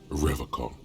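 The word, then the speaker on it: Revachol: to stay strong forever call it pronounces rivercon with a hard K unlike other people my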